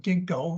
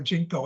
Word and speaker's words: Ginkgo: have extant examples of Ginkgo or jinko if you prefer and uh it's a Chinese word it's the pronunciation of